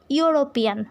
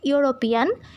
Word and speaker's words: European: So here is vowel but the pronunciation is like you, European.